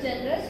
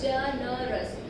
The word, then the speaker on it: generous: So the word generous, for example, so here you are stressing, you are, if you spell this word, we have 3 syllables, generous. So here we have 3 syllables and we are, if it happens to be ending with Y or any consonant, we are stressing syllable number 1.